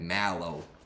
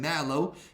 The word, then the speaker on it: mallow: I was like, ain't no motherfucking way this is said mallow the whole time. Y'all been teaching me how to say this shit wrong the whole time. It's been mallow. Y'all saying this shit's mellowed out.